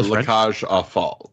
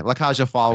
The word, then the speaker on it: La Cage aux Folles: a very close remake to the original 1970-something La Cage aux Folles. Is that how you pronounce that? I don't know. La Cage aux Folles, yeah. Oh, okay. La Cage aux Folles, which is 1978.